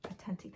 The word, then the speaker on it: Attenti: I don't know how do you pronounce that? Attenti. Attenti, thank you.